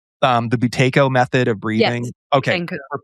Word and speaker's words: Buteyko: And I don't even know how to, again, I can barely speak English, to pronounce this person's name. The Buteyko method of breathing.